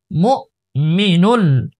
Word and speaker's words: المؤمن: লাম পেশ মুল, সালামুল, মিম হামজা পেশ মু, মু, একটু ধাক্কা দেব, মু, মিম জের মি, মু মি, নুন লাম পেশ নুল, মু মিনুল, মু মিনুল, মু মিনুল,